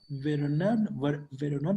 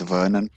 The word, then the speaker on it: Vernon: It's actually pronounced Vernon, so it's okay.